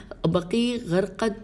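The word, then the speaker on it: بقیع غرقد: اور یہاں پہ ہجے کر لیتے ہیں، بقی کی تو بے قافیہ عین ہے، اس کے بعد غین رے قاف دال لکھا ہوا لگ رہا ہے، ہو سکتا ہے یہ قاف ہے ہو۔ بہرحال یہ میں نے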